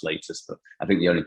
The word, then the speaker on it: Latus: of the company it's latest health yeah i mean it looks like lattice uh it does but um technically it's pronounced latest but i think the